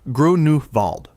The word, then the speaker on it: Grunewald: Pronounced Groo-noo-vald. Grunewald sits inside Berlin's own